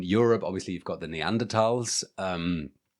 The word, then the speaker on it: Neanderthal: Um but in Europe obviously you've got the neanderals um which which is pronounced like that with a with a t not with a th sound.